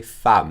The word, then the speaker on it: femme: e it's an egg we pronounce it like an a okay fam that femme no fun